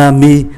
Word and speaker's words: amie: cô bạn gái, thì chúng ta thấy bạn trai và bạn gái viết khác nhau nhưng mà phát âm giống nhau. Un ami, une amie, ami, ami, mặc dù có thêm ơ nhưng mà phát âm vẫn giống nhau.